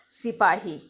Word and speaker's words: sipahi: Now sepoy here was the pronunciation which was made by the Britishers for sipahi.